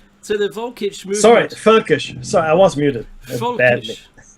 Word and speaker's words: völkisch: Völkisch. Looks like Meki's taken, he's muted himself. So the Völkisch movement. Sorry, Völkisch.